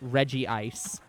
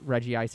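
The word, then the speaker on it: Regice: the Reggies in it, where they specifically pronounce it Reggie Ice, and then they made an app to specifically tell people that that was wrong, and it was like, no, that's stupid.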